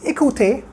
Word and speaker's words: écouter: Second verb is écouter.